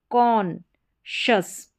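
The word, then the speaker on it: conscious: यहाँ पर S जो है C के साथ में अटैच है। S का उच्चारण यहाँ पर आपको नजर सुनाई नहीं दे रहा होगा, लेकिन ये साथ में ही रहेगा। इसको कॉन्शस पढ़ेंगे, कॉन्शस।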